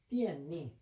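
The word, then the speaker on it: 电力: 중국 발음도 똑같아. 띠엔니.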